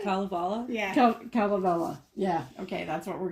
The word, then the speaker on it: Kalevala: Kalevala.